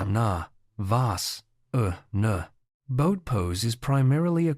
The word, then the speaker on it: Navasana: This posture is pronounced na vas uh na.